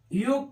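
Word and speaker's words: yolk: ऐसे ही वाई ओ एल के, ओ के देखिए वो वावेल है, इसके बाद एल आई अभी साइलेंट। योग पढ़ेंगे एफ ओ एल के, इसको फोक पढ़ेंगे, फोल्क नहीं पढ़ेंगे।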